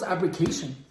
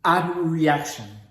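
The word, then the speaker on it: abreaction: two and third chapters I just thought it was abric so it's actually called AB reaction let me make sure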